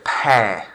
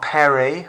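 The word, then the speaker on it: père: or father either one focus on the pronunciation here pear not perry or pierre or anything like that pear the last letter is more or less silent repair le pere the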